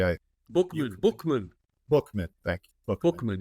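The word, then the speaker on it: Buchman: You Bookman, Bookman, thank you, Bookman, Bookman, yeah.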